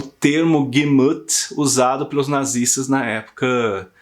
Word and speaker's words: Gemüt: Por exemplo, o termo Gemüt, espero que seja essa a pronúncia, né? O termo Gemüt, que é de extrema importância, né, para você